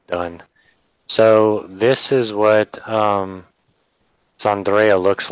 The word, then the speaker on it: Zandrea: Zandrea. Andrea, but with the Z.